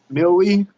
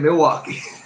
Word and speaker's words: Milwee: Millie, Yeah, Milwee, because I was going to end up saying Milwaukee.